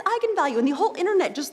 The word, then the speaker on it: eigenvalue: but I wasn't quite sure on how to pronounce it looked to me like vegan value so right I mean I think that's what